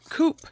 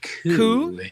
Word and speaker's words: coup: Coop. Coup. Oh, coup. Oh, coup. It's pronounced coup.